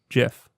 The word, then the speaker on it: GIF: have seen them through a gift or you pronounce correctly jiff that wasn't part of the fun fact that's